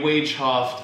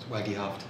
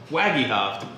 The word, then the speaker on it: Wagehoft: Project uh today I am joined by Corey wof uh who is Waggy hoft Waggy hoft how would I not it's spelled I'm going to put his name here